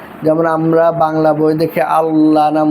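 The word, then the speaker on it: الله: আল্লাহ শব্দের আগে জবর বা পেশ থাকলে আল্লাহর শব্দের মধ্যখানে লামকে পুর বা মোটা করে পড়তে হয়।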